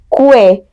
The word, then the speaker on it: queue: Is it Q, que? Right? Oftentimes people will usually say this as que, but it's not, it's Q. Just basically Q.